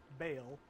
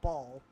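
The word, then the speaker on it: Baal: It is pronounced B-A-A-L, Bale, not ball.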